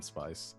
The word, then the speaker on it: Von Spice: Okay, then my letter would be from Miss Vernice Keating to the Countess Von Spice. It's pronounced spice. The Vaughn is silent.